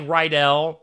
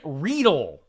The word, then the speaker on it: Riedel: If you look at Clint's last name, by the way, it looks like Rydell, like Grease. Rydell High. Clint Riedel is how you say it.